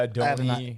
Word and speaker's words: Adonai: Mitchell, and I don't know how to pronounce his first name. What's it? Yeah, Adonai.